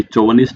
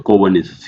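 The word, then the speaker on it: chauvinist: अब अगेन इसको आपको प्रोनाउंसिएशन भी सीखना पड़ेगा कि चौवनिस्ट नहीं होता, कोवनिस्ट, CH। जैसे केमिस्ट्री में CH को क्या बोलते हैं, यहाँ पे भी क्या बोला जाता है? कोवनिस्ट।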